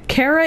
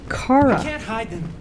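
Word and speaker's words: Kara: down sunny it's okay Cara is a way to pronounce that name but why the are you saying it it's clearly Cara not after what those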